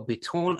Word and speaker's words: Bitton: I just want to start off with Joshua Bitton. Oh, did I get that right, Gibson? Because you're continually alphaing me about the way I pronounce things. You made it fancier than we say here. Bitton.